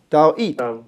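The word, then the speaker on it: Δαυίδ: 好，接下来这个呢 David 啊 David，它这个你看这个 r 是一个音哈，但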